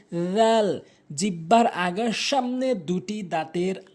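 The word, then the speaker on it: ذال: এরপরে আসুন জাল ভুল উচ্চারণ, জাল ভুল উচ্চারণ, সঠিক উচ্চারণ হচ্ছে জাল।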